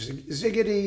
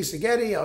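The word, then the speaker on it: Szigeti: friends Von fitchke uh Joseph ziggity ziggeti if you want to pronounce it Carl gregorovitz I mean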